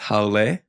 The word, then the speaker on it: haole: And, you know, we know it's haole. So that's one thing that I feel like even as locals, we got to make sure that we're saying it correctly.